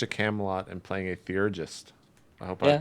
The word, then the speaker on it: theurgist: I remember playing Dark Age of Camelot and playing a theurgist. I hope I pronounced that correctly.